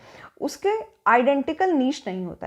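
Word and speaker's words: niche: है ठीक ठीक है इसको प्रोनाउंस जो है वो इसका नीश है हिंदी में इसको कहते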